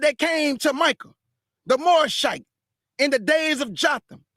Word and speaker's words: Morashite: called the man a Morashite. He was called a Morashite, or some people pronounce it Morashite.